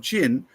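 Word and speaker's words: Qin: an Antiquated way of spelling it is actually pronounced c h n in modern day English and the people from chin are Chinese which you can see where we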